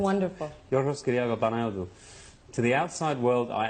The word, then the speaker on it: Yorgos Kyriakou Panayotou: My name is Yorgos Kyriakou Panayotou. That's really how it's said. It's wonderful. Yorgos Kyriakou Panayotou.